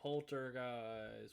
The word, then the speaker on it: Polterguise: from Polterguise. Whoa. Pretty cool band, I guess. Spelled the name. It's like Poltergeist in disguise.